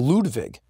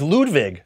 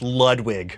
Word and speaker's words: Ludwig: own name you have it's a Ludwig it's Ludwig yeah that's how you say it that's so funny Kathy she was like is it pronounced Ludwig I was like nah it's Ludwig I bastardized it when your parents named